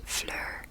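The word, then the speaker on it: Fleur: ask that's okay uh you pronounce my name as Flur so kind of like blur but with FL Flur that's how you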